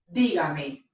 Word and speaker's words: dígame: Now we put the stress in our voice right here over that syllable.